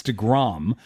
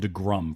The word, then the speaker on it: deGrom: to your show, because you don't say it right. It's DeGrom. Everyone else calls him DeGrom, but you guys call him DeGrum for some reason.